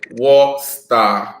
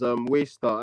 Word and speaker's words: Waystar: And the player of the week is War Star. Josh No, I is believe that's pronounced as Waystar.